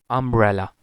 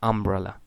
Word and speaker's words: umbrella: symbol will be used then umbrella umbrella umbrella but if you pronounce it like this it will move raela no it is not umbrella it is umbrella then manage not manage